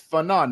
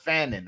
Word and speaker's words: Fanon: It's Fanon, not Fannin.